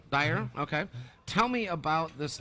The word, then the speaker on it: Daher: now you're here and I'm pronouncing that right daher Dyer yep Dyer okay tell me about this new airplane well here we have the new 2023 TBM 960.